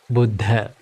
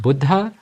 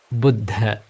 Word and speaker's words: Buddha: the Supreme Buddha now the correct way to pronounce the word Buddha is Buddha it's not Buddha or it's not Buddha it's Buddha so the Buddhist teachings are called called Buddha